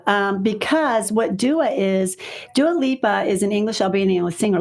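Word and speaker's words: Dua Lipa: made that mistake so I pronounced it daal Lupa so it is Dua Lea so um I'm turning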